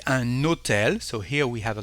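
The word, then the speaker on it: un hôtel: all the time for if you have a plugged H here we will say an notel so here we have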